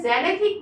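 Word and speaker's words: xanthic: हैं light yellow colour लेकिन उसका सही प्रोनंसिएशन सही इंग्लिश होती है जेनेथ मतलब हल्के पीले रंग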